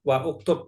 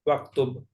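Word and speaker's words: واكتب: dia enggak dibaca waktu Bukan wauktub tapi waktub gitu dibaca terakhir Hamzah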